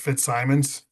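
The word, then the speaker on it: Fitzsimons: uh, Woodley, my last name is pronounced Fitz Simons for the record.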